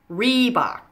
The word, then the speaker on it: Reebok: fairly easy to pronounce just remember to stress the first syllable in each of these words Reebok Puma converse okay I